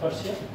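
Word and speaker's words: Prussia: जिसके बाद पर्शिया, Austria versus पर्शिया, वैसे इसे प्रूशिया बोला जाता है। ठीक है, इसका जो उच्चारण है वो प्रूशिया है। पर्शिया तो हम लोग उसको पारस को भी बोलते हैं। ठीक है, तो ये इसको प्रूशिया बोला जाता है, वैसे इसका उच्चारण है इधर फ्रांस वर्सेस प्रूशिया।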